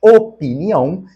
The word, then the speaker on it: opinião: estão corretas nós temos opinião que tem este I aqui mesmo tá o p não é mudo na palavra opinião opinião opinar existe de fato este i a palavra